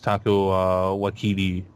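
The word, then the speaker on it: Taika Waititi: We use Taco Waititi, I believe is how you pronounce it, and Chris Hemsworth had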